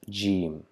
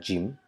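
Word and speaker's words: جيم: which is not like gym it is G uh and uh it is equivalent to the pronunciation of English J as in jug so it's not the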